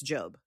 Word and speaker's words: Job: Yeah, it's the Yeah, it's Job, but it is spelled Job.